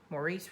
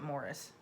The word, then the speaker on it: Maurice: grandfather clock by maurice maurice richardson or is it morris i don't get maurice it depends on where you are it's spelled maurice let's